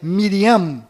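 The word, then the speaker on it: מרים: menos sofreram mudanças foram Maria que na verdade é Miriam com m mudo no final Rei Davi que na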